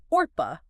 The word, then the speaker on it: Orpah: isn't even her real name. What? Yeah, it's a mispronunciation of, get this, Orpah, O-R-P-A-H, Oh, wow.